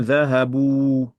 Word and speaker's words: ذهبوا: Hum, ذه- هم ذهبوا très bien, le alif ici, on l'écrit, mais on ne le prononce pas. Hum dhahabu. Et elles sont parties au pluriel féminin.